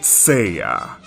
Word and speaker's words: Seiya: A good example of this spelling would be for the manga series Saint Seiya. Seiya sounds much closer to what English speakers call Saiyan, but the letter for the first syllable is different from Saiyan, as it actually has e